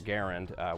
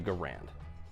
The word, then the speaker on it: Garand: instead an M1 Garand Mr Garand was very insistent that that was the way that you pronounce his name however is that true